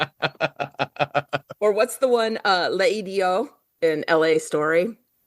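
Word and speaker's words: L'Idiot: Uh, Leidio in LA Story, one of my favorite movies of all time. That's a fancy restaurant that's called Leo, but it's spelled L apostrophe idiot because it's it's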